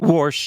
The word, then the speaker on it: Warsh: rabi hershy W right W pronounce him correctly warsh yeah warsh sorry and you're looking speaking